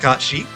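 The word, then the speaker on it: Cait Sith: Final Fantasy sure they it looks like Kate Seth they pronounce it k said sure I'll I'll accept it but Square you know huge game developers and they they know they know it's supposed to be pronounced Kat she but they just randomly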